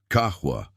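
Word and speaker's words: qahwa: And Maya noticed he pronounced it correctly. Kahwa, not the Americanized version most people used.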